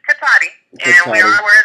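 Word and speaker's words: Cotati: how to say the name of y'all's town, Kotita? Okay, it's Katati, and we are aware of the video, but we have no comment regarding that incident.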